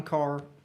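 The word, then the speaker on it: Ker: And thank you, chairman, for pronouncing my last name correctly because it's spelled K E R.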